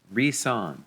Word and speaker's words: Reson: This is the Siga Reson, like Nissan, Reson. Apparently I've been pronouncing it incorrectly.